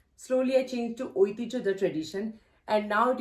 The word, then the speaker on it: Oitijhyo: Slowly I changed to Oitijhyo the Tradition, and now it is Oitijhyo by Anusmita. Wow. I felt like if you can pronounce other French names, you can definitely pronounce this one, right?